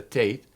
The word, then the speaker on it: Tet: In Paleo-Hebrew, the tet, as it's called, some pronounce it the tate, the 9th letter is a circle with an X through it, or contained in it.